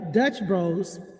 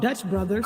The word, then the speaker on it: Dutch Bros: so good the other day i had uh dutch bros and i found out i've been saying that name wrong because i caught i thought it was called dutch brothers so today i'm having uh desert eagle coffee